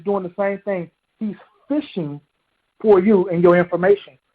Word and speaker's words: phishing: they fishing for fish think of that concept but it's spelt different spell p-h-i-s-h-i-n-g well a cyber criminal or a threat agent is doing the same thing he's fishing for you and your